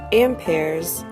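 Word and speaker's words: ampere: measured in something called amp pairs pronounced amp plus pairs it can kind of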